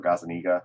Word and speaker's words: Gazaniga: Everything involved with my Magic career is Gazaniga, or Gazaniga, I should say, is technically the correct pronunciation.